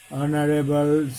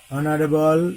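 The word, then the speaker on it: honorable: তদ্রূপ কতগুলো শব্দ রয়েছে যেগুলো কনসোনান্ট দ্বারা শুরু হয়েছে বানানে কিন্তু উচ্চারণ হচ্ছে স্বরবর্ণের ন্যায়, অর্থাৎ ভাওয়েল উচ্চারণ, আটার্ড ভাওয়েল।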